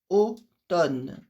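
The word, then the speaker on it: automne: Eh, observação do outono que eu não pronuncio esse M que está no meio da palavra, eu vou direto no n, oton. Essa é a pronúncia correta.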